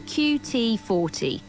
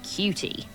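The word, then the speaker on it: QT40: so please report to qt 40 brackets not pronounced cutie you'll find me lurking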